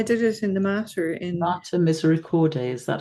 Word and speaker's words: Mater Misericordiae: Mater Misericordiae, is that how you pronounce it?